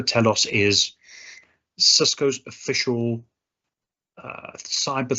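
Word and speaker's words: Talos: TS by the way T AOS there's different pronunciations for this but Cisco Telos is Cisco's official uh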